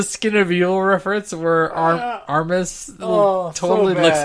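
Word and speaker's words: Armus: Armis definitely looks like a garbage bag, and we even get more Armage episodes later. Or Armis. Say it right.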